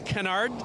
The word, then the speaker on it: canard: This is Delta Wing Canard design.